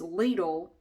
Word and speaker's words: Lidl: It is Lidl in the USA. I know it's not pronounced that way everywhere, but it is pronounced that way here.